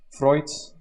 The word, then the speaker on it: Freud: the most obvious product freud's or actually freud since he's austrian therefore i can pronounce it german dish that's the stage